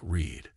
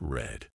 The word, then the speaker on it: read: pronounced like readed read in the present is pronounced like Reed but in the past it's red but in the past it's red mind blown